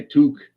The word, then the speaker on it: toque: My toque. I have a toque right here. I know you do. It's Canadian. Take off. Toque. That's my toque, eh?